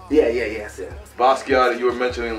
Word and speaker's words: Basquiat: Basquiat, you were mentioning like, you know, artists, yes.